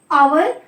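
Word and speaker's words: hour: ठीक है, फिर एच का आ उच्चारण। ठीक है, जैसे कि आवर। ठीक है, आवर मतलब, ठीक है, आवर को जब हम प्रोनाउंसिएशन करते हैं आवर, तो देखिए शुरू में आ रहा है ना, आ, यानी कि ये ए एन आर्टिकल लेगा।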